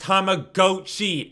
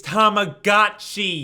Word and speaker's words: Tamagotchi: It's not pronounced tomagoi, it's goti.